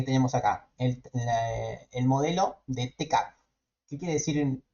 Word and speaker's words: TCAP: acá, el modelo de TCAP. ¿Qué quiere decir? Muchas veces le dice CAP, ¿sí? Sí, sin pronunciar la T.